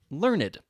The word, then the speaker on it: learned: Sometimes you will pronounce the e in adjectives, like learned.